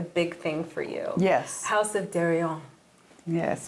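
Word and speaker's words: House of Deréon: House of Darion. Yes. Right. Listen to you. Oh, I learned you fast. You pronounced it right.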